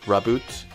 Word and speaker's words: Raboot: Alright, so we have Franklin, Lipbug, Rhyhorn, Clobopus, Goldeen, Palpad, Kingler, Rhydon, a Reverse Raboot, pretty sure that's how you say it, Raboot, and a Whimsicott non-holo rare.